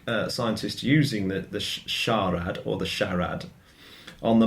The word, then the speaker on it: SHARAD: for Shallow Radar, and so it should be pronounced SHARAD.